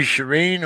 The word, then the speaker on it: Shireen: miss well i should i call you shireen or did i pronounce that right yeah you can call me serene that's my name okay this my